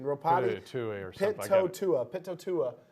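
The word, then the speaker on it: Pitoitua: Pitotua is how you pronounce the last name. P-I-T-O-E.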